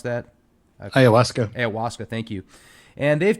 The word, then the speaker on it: ayahuasca: When you talk about the DMT experiences, I've spoken with several people that have had DMT and ayahuasca, or how do you pronounce that? Ayahuasca.